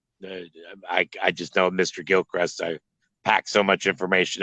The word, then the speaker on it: Gilchrist: that's the county obviously Florida it must be Gilcrest County right that is correct it is the